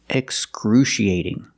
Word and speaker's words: excruciating: this word excruciating excruciating we see the C before the I and the a making the sh sound excruciating but with this word we're going to pronounce the I after the C as e excruci and the a